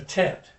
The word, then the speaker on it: Tet: It goes, it has it's pronounced T. It's the Tet.